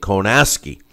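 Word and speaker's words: Kownacki: uh pronouncing the name konaki because that's way it looks but it's that everyone else has been pronouncing it konaski uh like there's an s in there but there's not but uh Adam Kowski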